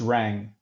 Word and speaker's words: Raeng: should you pronounce it actually that's the correct pronunciation just rang just like okay like you rang yeah yeah